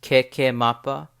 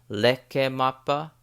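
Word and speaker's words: Kekemapa: December has like 3 different pronunciations or spellings. It could be said as keke mapa, which is what I'm going to be saying it as, but it can also be leke mapa or deke maba with a B at the end.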